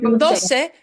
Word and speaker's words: doce: 12, Oh, doce sounds like Doce. dos, but it gets an extra sound at the end.